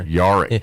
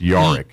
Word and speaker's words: Jarek: Yarick. It's spelled Jarek. Jarek. Like J-A-R. It's pronounced Yarick.